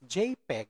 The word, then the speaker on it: JPG: dot png so that jpg pronounced as jpeg stands for joint photographic